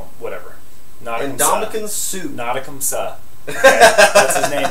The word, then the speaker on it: Ndamukong: Other news, Nadakum Suh was fined in that game, $100,000 for a low blow. Why do you still pronounce his name that way? That's because what I call him. Whatever. Ndamukong Suh.